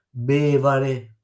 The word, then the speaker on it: bevare: Esempi: parole sdrucciole, bevare, bevare, quindi so prima è l'accento acuto. Bevare, se no si leggeria, se mettete sull'ultima si legge bevare, bevare, scusa. Se non lo mettete e uno non lo sa, può legge bevare perché crede che sia sull'ultima sillaba.